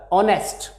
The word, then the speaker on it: honest: a few examples here honest dash honest man in these words in most of the words if o is followed by h at the initial position h is silent of course there are